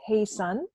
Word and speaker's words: Haesun: so that's me and my name is pronounced hey son and if I pronounced